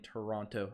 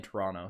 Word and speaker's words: Toronto: roasting me for saying toronto i'm trying to inflect my voice and when i do that i pronounce the tease if i'm talking every day i'm saying toronto so don't stress it